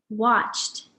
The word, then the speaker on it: watched: Okay, our next word is watched. Does watched end with d or t? Watched. Again, watched ends with a t sound, just like talked or walked.